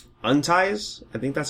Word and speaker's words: UNTIES: new indie label called unties I think that's how you're supposed to pronounce it it's not unities it's just unties that's what that's not